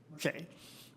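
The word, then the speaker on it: Marché: Now you pronounce it. Marche. It's French.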